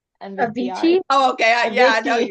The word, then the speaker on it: Avicii: Avinci. Avicii.